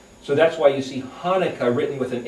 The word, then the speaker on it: Hanukkah: word Chanukah, or pronounced Hanukkah, but it's really Hanukkah. It's this guttural sound.